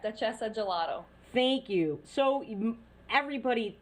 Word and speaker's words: Duchessa: And did I pronounce the name of your gelato company correctly? Is it Duchessa? Correct, Duchessa Gelato.